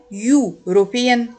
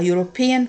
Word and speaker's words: European: u a uniform a European country a European country so here is the sound of you not a use an before singular countable